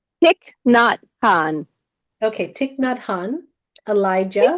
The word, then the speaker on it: Thich Nhat Hanh: The requests are for is it Tix Nhat Hanh? Did I say it right or not? Thich Nhat Hanh.